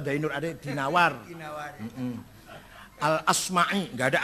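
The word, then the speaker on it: al-Asmaʿi: terjemah dari kitab alimam I quahinawari jangan B Bacanya dinawari jangan addainuri enggak ada kota dainur ad dinawar dinawari Heeh alasm'i enggak ada Asmi asma azzabidi bukan zubaid zabid apalagi jadi jadi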